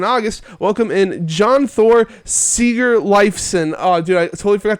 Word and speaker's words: Sigurleifsson: work, it's just that I am the son of someone called Sigurleifur, and my dad's name is like rare as shit back there.